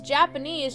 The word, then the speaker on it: Japanese: And when she says Japanese, she doesn't pronounce the J. She says it like a Y.